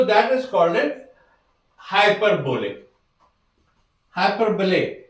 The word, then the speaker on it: hyperbole: हाइपरबोले, इट्स द वे it pronounces हाइपरबोले।